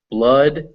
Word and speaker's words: blood: r poor or door some notable exceptions are blood and flood both of which it's pronounced uh blood and flood o u